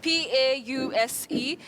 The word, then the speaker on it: pause: What is important in that word, Betty, is the digraph A and U representing the long vowel sound O, po.